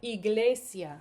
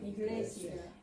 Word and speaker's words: iglesia: Okay, so the next one is going to look like an I, but we say it like double E in English. So E, idea, Idea, iglesia, iglesia, imagen, imagen, invierno, invierno, infancia, infancia, invitar.